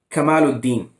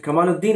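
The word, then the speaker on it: Kamal al-Din: is the fact that he first pronounced the name of this book by sheikha sadhu correct he said kamaladeen and then he got confused he said ikmaluddin so we have a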